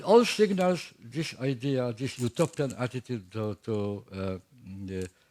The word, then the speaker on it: Utopia: had the advant that two different particles in Greek language from which from which the where Utopia was coined are pronounced in English in the same way EU double vels EU and single U are are pronounced in English as U Utopia means there for two